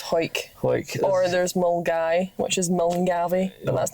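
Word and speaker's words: Milngavie: But there's one called Hoik, which I think you're thinking of, which is spelled Hawick. Yeah. Yeah, it's Hoik. Hoik. Or there's Mulgai, which is Mulgavy, but that's near Glasgow.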